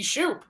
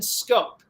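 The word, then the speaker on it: Schoop: I mean, you look at it, and it should be Shoup, Shoop-a-loop. No, not the case. Jonathan Scope, if I'm not mistaken, I think he's from the Netherlands, and I don't know if that necessarily plays into pronunciation of his last name, but yeah, Jonathan Scope. Is how you pronounce it, not Shoup, unfortunately.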